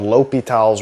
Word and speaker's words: L'Hospital: here on the screen, it looks like it's L apostrophe hospital's rule. And so you might be tempted to call it that, but the actual pronunciation is a French guy and so you pronounce things a little differently.